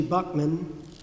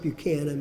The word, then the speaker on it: Buchanan: gettier on New Street is Archie Buckman it's not Buchanan but it's spelled that way in the Tariff book Mason Heimer also spelled